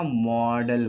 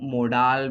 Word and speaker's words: modal: इसी तरीके से आपका हेल्पिंग वर्ब में ही आता है आपका मॉडल वर्ब, ठीक है, जिसको हम मोडाल भी बोल दिया करते हैं, लेकिन सही प्रोनाउंसिएशन है मॉडल। ओके।